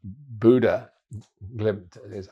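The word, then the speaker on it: Bodø/Glimt: yes I'm mentioned it very briefly earlier uh Buddha glimp as it is correctly pronounced Buddha Um I was uh on duty for their game.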